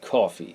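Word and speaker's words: Coffey: in and it is John coffee just like the drink but not spelled the same he likes to tell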